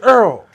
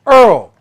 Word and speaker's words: oil: Mom the you put she said Earl o i l Earl Earl what the world they call it Earl yeah so so she spell it right still they still I said yeah that's that New Orleans you know what I'm